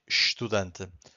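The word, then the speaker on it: estudante: Because every every time we have an S before a consonant, we get a sh sound. So this shh that you can hear, it's because we have this s before the consonant. And this sh sound, it's very strong. So every time that happens, this construction, this this first vowel, it's hard to hear.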